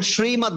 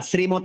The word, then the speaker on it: শ্রীমদ্: তালব্য ষ দিয়ে অনেক শব্দ আছে না, যেমন শ্রীমদ্ ভগবত গীতা, শ্রীমৎ নয়, শ্রী, স্বর মতো উচ্চারণ করতে হবে।